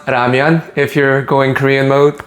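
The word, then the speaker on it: 라면: It's pronounced ramian if you're going Korean mode, but we're going to stick with ramen just because that's what everybody knows.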